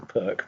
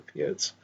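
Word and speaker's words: Pirc: Knight f6 is translating to the what everybody calls the perk, but I think is supposed to be pronounced the Piert's defence is best with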